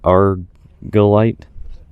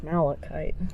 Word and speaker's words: malachite: So here we got copper ore, malish, ezerite, salt, and something I can't pronounce. Argolite. That's malachite.